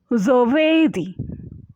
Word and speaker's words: giovedì: এখানে ভি এর উচ্চারণটা খানিকটা ডব্লিউর মতো, না পুরো ব না পুরো ভ। giovedì, giovedì।